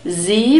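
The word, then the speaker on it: Sie: and the next word Z the polite form for you z it's a soft s and a long e sound in the phonetic script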